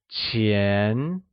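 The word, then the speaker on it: 钱: falling rising tone lastly money which translates to chin is pronounced with the mid rising tone great let's take a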